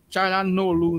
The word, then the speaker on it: Çalhanoğlu: Çalhanoğlu, né? Às vezes não pronuncia o G.